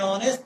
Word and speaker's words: honest: And honest, why? H is silent here. Honest. It's not giving the sound of H. It is not honest. It is honest.